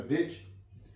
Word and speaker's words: ditch: इसी तरह डिच, DITCH, T silent है।